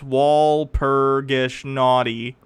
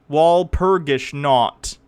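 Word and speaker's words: Walpurgisnacht: Walpurgis naughty. Walpurgis not. Say it right if you're gonna critique it, you fuckers.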